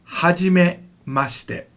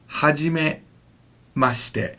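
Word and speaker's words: はじめまして: is going to be Hajime must it Hajime must it now that she near the end is not pronounced fully it's kind of compressed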